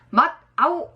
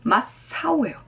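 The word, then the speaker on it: 真っ青: 그러면 맛 아오 이렇게 돼야 되는데 발음이 어렵습니다. 맛 아오 그러니까 그래서 발음 자체가 변해버려요. 요런 것들은 어떤 여러 가지 일본 유형의 시험에도 자주 나올 수 있어요. 맛사오예요. 요거 기억합니다. 이거 주의하셔야 돼요. 발음할 때 기억합니다. 맛사오 아오가 아니라 사오로 변한다.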